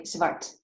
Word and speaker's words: Zwart: We say it here in the Netherlands. We say Zwart.